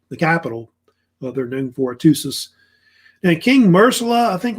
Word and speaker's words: Hattusa: Or either Hattusis or Hattusa, usually Hattusis. That's how they say it, really.